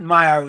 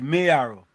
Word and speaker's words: Mayo: It had to be It's not Myo, it's Mayo. Mayo. Yeah, it's Mayo. M A Y is Mayo.